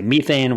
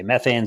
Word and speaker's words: methane: So you mentioned methane, and for those who have confusion, in places like Britain and India, they say methane, whereas in America, they say methane.